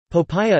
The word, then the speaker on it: 薄餅: Popiah, pei, h-o-g, po, h-pi-ah, acute to the power of n, is a Fujianese, Chaoshan-style fresh spring roll common in Southeast Asia. Popiah is often eaten in the Fujian province of